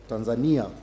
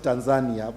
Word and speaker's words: Tanzania: insurance brokers in Tanzania Tanzania I think that's the the correct pronunciation you know in Uganda we pronounce it Tanzania but in Tanzania they Pro they pronounce it Tanzania is that correct yes Tanzania and uh